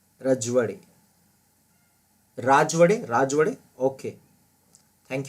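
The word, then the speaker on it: राजवाडे: The correct answer is D, that is वी के रजवड़े. रजवड़े मेरे ख्याल से बोलेंगे इसे, मराठी प्रोनाउंसिएशन है इसका भी रजवड़े, मेरे ख्याल से रजवड़े, वी के रजवड़े.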